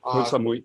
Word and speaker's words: Koh Samui: I can never pronounce these Thai islands correctly. You're right, Koh Samui.